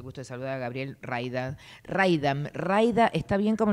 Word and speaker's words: Mraida: de saludar a Gabriel raida raid raida Está bien como lo pronuncio Gabriel medio que la historia de mi vida es explicar como no sé por la m la r nada en el medio difícil Así que esta